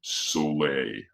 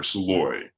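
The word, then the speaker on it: Szalay: name is David uh it's hard to pronounce it's a Hungarian last name but David Sole I think or sooy David sooy how do so that's s z a l a y I would have never I think that's yeah yeah I think it's I've heard it pronounced once before and I think it was sooy and he is a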